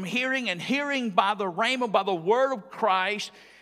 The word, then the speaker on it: rhema: But notice in your outline, the word translated here is rhema, R-H-E-M-A. It's pronounced rhema.